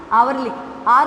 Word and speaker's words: hour: दूसरा रूल ये है कि एन यूज़ होता है वहाँ पर भी जहाँ पर एच साइलेंट होता है. जैसे HOUR, आर लिखते हैं हम.